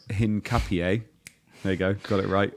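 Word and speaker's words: Hincapié: got uh hang on to say it right Hinn Capier there you go got it That was for Indie who butchered me for saying it wrong on Wednesday.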